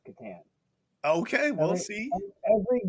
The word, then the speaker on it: Catan: How do you pronounce Klaus Teuber's game, The Settlers of? Gateway game. Catan. Catan.